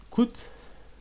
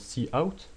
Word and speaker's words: cout: Alors, cout, normalement ça se prononce cout, mais je dis cout pour aller plus vite, permet d'afficher du texte.